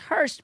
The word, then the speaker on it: Horst: book in the store, her last name is pronounced Hurst, but it's spelled Horst.